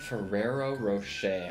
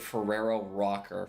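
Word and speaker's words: Ferrero Rocher: with you Ferrero rooch fero Rocher I I don't think I've ever pronoun I feel like I pronounced it Ferrero rocker for like all my life I remember this one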